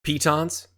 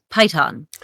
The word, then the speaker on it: piton: But the British pronunciation is python. The American pronunciation is piton.